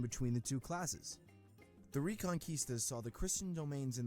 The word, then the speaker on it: Reconquista: He doesn't know how to say it, but La Reconquista.